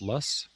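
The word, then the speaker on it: Loess: uh various locations in what is called The lus Hills it's uh spelled l o SS but it's pronounced lus and uh these Hills run from the Missouri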